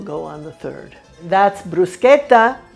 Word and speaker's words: bruschetta: That's bruschetta, not bruschetta, because the CH in Italian is pronounced like that, bruschetta.